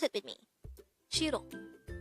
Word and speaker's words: 싫어: Shirro. This is pronounced as a two syllable word. The first syllable is shir. The second syllable is o. Pronounce it with me. Shirro. Shirro.